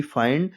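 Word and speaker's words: find: कहीं भी लिखा हो आई के बाद एन डी या एल डी लिखा हो तो आई को बड़ा आ छोटी ई की मात्रा से पढ़ेंगे।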